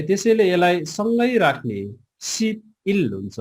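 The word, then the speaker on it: 십일: Okay ल, अब यसलाई सिप इललाई चाहिँ हामीले उच्चारण गर्दाखेरि चाहिँ सिभिल गर्नुपर्छ है, सिभिल। किनभने यो ब चाहिँ पछाडिको भवेलसँग जोडेर चाहिँ उच्चारण हुन जान्छ।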